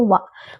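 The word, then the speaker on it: は: Jadi wa di sini itu kan huruf H, tapi kalau di kalimat dibacanya itu partikel dibacanya wa bukan huruf wa tapi hurufnya H tapi dibaca wa karena itu partikel.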